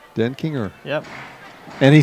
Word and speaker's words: Denkinger: I'd write the word den, and then I'd write the word Kinger. Denkinger. Denkinger.